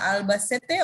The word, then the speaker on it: Albacete: Angela, ¿cómo se pronuncia? ¿Albacete o Albacete?